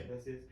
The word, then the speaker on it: Iglesias: Gabriel Iglesias, or how you say his name? Yeah. Iglesias.